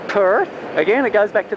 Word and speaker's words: Perth: where else earth not perth again it goes back to the ours rule don't pronounce the r's unless they're at the start of a word otherwise that would really